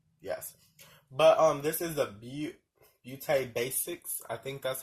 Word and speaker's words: Beauté: But this is the Beauté Basics. I think that's how you say it. Beauté. There's an accent mark there, girl, boy, whoever you are. Beauté Basics.